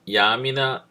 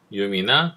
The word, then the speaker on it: yum: 그러니까 이쪽은 rpm이나 지금 요거를 보통 yam이나 yum 뭐 이렇게 발음해요. 중간 발음으로 보통 저는 yum이라고 발음합니다. yum이나 또는 dnf를 통해서 패키지 관리를 할 수가 있고요.